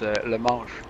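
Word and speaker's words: La Manche: Is it Le Manche or? No, it's a French word. It's Le Manche.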